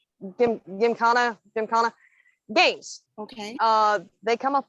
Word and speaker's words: gymkhana: It's pronounced gymkhana.